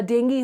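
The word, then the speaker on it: dengue: जैसे मलेरिया हो गया, डेंगू हो गया। ये डेंगू बेसिकली अपन इसको डेंगू बोलते हैं, बट आपको मालूम है इसका प्रोनाउंसिएशन डेंगी होता है, ठीक है।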